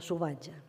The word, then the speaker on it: salvatge: És el cas de la L, que davant F, Z, B i V passa a pronunciar-se U. Així d'una alfàbia en deim ufabi, d'una alzina, usina, d'una albergínia, ubergini i de salvatge, suvatge.